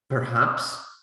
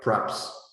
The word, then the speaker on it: perhaps: words like you know perhaps sounds more like preps uh when we speak quickly right and you know